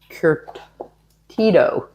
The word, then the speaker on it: curtido: We are making the curtido. Curtido. Yeah, I'm making her say because I can't pronounce it.